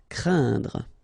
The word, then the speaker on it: craindre: So it's quite interesting here because you've got this combination of letters, so A, I, and then N, okay, so it will be a nasal as well, and then it will be pronounced like un, so keep in mind that it goes in your nose, so you don't hear any N when I pronounce it, and then C plus R will produce the sound cr, crain, craindre.